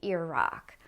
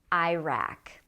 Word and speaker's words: Iraq: So most Americans say Iraq, but don't be surprised if you hear people say Iraq.